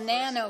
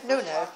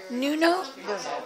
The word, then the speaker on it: Nuno: Today we're at Mira, and people are felting, and it's something called nano felting. Nuno. Nuno?